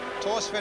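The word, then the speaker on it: Thorstvedt: Torsved in goal then, 51 caps for Norway. You don't pronounce the H in his name, incidentally, taking over, as Elton says, from Bobby Mims.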